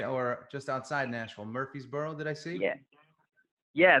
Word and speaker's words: Murfreesboro: you're from Nashville right or just outside Nashville Murphysboro that I see yeah yeah that's right you pronounced it correctly as well brownie point yeah good old Murfreesboro Tennessee is where I'm from okay you get